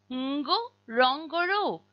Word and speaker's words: Ngorongoro: When a word starts with ng, as does ngo, rong, goro, you will pronounce that n but without sneaking in a vowel between the n and the g.